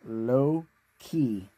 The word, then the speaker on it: Loki: Yes, when you pronounce that, guys, remember it's low-key, as in the demigod Loki, the mischief god.